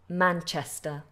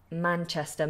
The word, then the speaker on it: Manchester: of London Manchester Airport Manchester Manchester make sure that CH is more explosive sure Manchester Manchester good the next